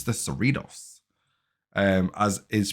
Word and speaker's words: Cerritos: so they pronounce it the cerritos so we'll pronounce it the cerritos for all of my american friends and viewers out there who said i pronounced it wrong so it's the uss cerritos um so it's not the ceratosos even though